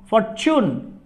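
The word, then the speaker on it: fortune: এক্ষেত্রে আবার দেখুন এফ ও আর টি ইউ এন ই, ফরচুন। এখানে এই যে টির পরে ইউ লেটারটি রয়েছে তাহলে এখানে এর উচ্চারণ হবে ফরচুন।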